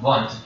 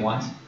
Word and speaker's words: Wundt: the leadership of Wilhelm Wundt. So he was a German, so those W's are pronounced as V's.